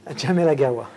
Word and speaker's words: Djamel Agaoua: And tonight, I have the pleasure of having the company of the CEO of Viber, Rakuten, Djamel Agaoua. Did I pronounce that right? Djamel Agaoua.